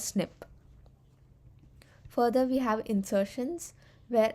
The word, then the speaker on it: SNP: called single nucleotide polymorphism abbreviated as SNP it's pronounced as snip further we have insertions